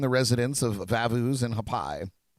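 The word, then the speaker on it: Haʻapai: residents of vavus and hapai a hot pie it's probably the better pronunciation of that which are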